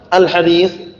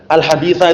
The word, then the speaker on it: al-haditsa: itu ada pada seseorang, al-hadis. Ini sekali seperti ini perhatikan, al-haditsa itu bacanya ya, itu yang rajih. Jadi kalau diputus kemudian tiba-tiba titik-titik al-hadis, itu bacanya al-haditsa.